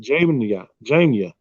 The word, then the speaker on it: Jamnia: Jamnia.